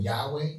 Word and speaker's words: Yahweh: you say the word Yahweh is you they don't even say the word they breathe it because as you inhale so it's when they say it is that's how you say it that's God's name it's